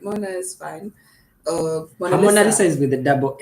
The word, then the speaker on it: Monalissa: Monalissa Monalissa.